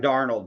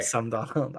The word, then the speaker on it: Darnold: now this year go I think you mispronounce Sam darnold but okay Sam Donald I just don't think